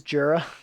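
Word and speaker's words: Djura: Who is Jura? He's the boy on the turret. Or are you questioning my pronunciation? I'm pretty sure the D is silent.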